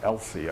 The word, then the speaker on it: ELSI: research um and um people started pronouncing this acronym uh when i was talking to them and i'm like what are they talking about elsie i know what is this i'm talking about ethical legal and social implications and i realized that they were pronouncing that um and that's what